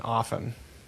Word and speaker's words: often: You're not supposed to pronounce the T in often. Often. Yeah, the T is supposed to be non-existent in the pronunciation supposedly.